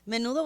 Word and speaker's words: Menudo: no it's not the menudo was a big group it was a big singing group like is it the same pronunciation as the soup yes what the heck I